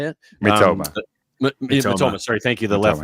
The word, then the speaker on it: Mitoma: Obviously, Minoma, is that how you say it? Mitoma.